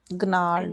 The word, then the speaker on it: gnarled: Gnarled. Gnarled. G silent like a gnarled.